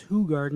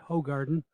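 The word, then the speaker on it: Hoegaarden: beer are who garden that is pronounced who garden not hoe garden branch do brucell and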